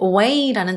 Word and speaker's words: weigh: 무게가 나가다라고 들어가면 weigh라는 단어가 있죠. GH 따로 발음 안 납니다.